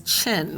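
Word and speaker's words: Qin: And a well-known one is Chin. Even though it's spelled with a Q, it's pronounced Chin.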